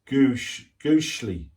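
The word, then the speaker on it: gusli: Okay, the instrument is a Gushli, pronounced Gushli.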